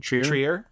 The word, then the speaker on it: Trier: Trier?